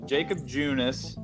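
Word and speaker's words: Jakob Junis: On Friday, we saw Jacob Junis, is that how you say his name?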